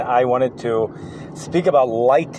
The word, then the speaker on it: Lytton: wanted to speak about light in Canada I think that's how you pronounce it l y TT o n just for a few